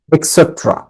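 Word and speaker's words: et cetera: For example, উদাহরণস্বরূপ, opposite বিপরীত, নেক্সট টু পাশে, নিয়ার কাছাকাছি, ইটিসি এটা পূর্ণ উচ্চারণ হচ্ছে এক্সেট্রা।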